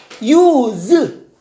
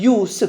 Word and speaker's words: use: 유즈 발음이 뭐야? 유즈입니다. 쓰다 즈로 꾸나 동사인 경우. 그러나 저것이 명사가 되는 경우는 발음이 유즈가 아니라 유스입니다. 유스. 그래서 명사일 때와 동사일 때 발음이 다른 경우가 많아.